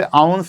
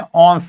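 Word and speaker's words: ounce: English में से आउंस प्रोनाउंस करते हैं, हिंदी में औंस कहते हैं।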